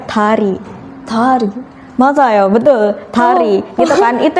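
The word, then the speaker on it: 다리: Hangul itu bukan da tapi ta. Ta. Ta. Jadi kalau bahasa Indonesia dari, bahasa Korea tari.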